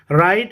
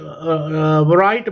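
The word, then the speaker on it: write: Word W, अगर हम डब्ल्यू मिला के पढ़ें तो ये राइट बन जाता है, जो कि गलत है। हम क्या प्रोनाउंस करते हैं? हम कहते हैं राइट, राइट। डब्ल्यू नहीं पढ़ते, लेकिन लिखते में ज़रूर लिखते हैं। तो डब्ल्यू वर्ड क्या है?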